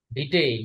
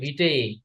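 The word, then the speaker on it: vitae: ভিটে, উচ্চারণটা হবে ভিটে, দুইটাই। বুঝছি। জি ভিটে, স্যার। ঠিক আছে? বুঝছি। কারিকুলাম ভিটা। জি স্যার। ভিটা না, ভিটেই।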